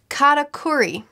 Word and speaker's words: Katakuri: Katakuri.